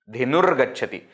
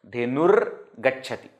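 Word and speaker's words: धेनुर्गच्छति: Dhenur gacchati. So though it is written like this, don't pronounce ga first and ra later. No, ra first, ga later.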